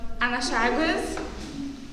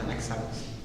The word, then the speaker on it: Anaxágoras: Então, Franciele, como pode ver, as teorias do senhor Anaxágoras Seria Anaxágoras, né? Dá licença, é Anaxágoras. Pronúncia correta, Anaxágoras. Só isso, muito obrigado.